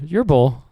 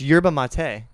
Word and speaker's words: yerba mate: How do you pronounce Where are this? you seeing yerbal on this can though? Right Dude. here, yerbal. There's no Yerba. L, There's brother. no L, my guy. It's yerba mate.